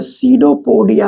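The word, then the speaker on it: pseudopodia: हम लोग बोलते हैं सीडोपोडिया। क्या बोलते हैं? सीडोपोडिया। देखिए इसका स्पेलिंग क्या है? पी एस ई यू डी ओ पी ओ डी आई ए सीडोपोडिया। इसमें पी साइलेंट होता है।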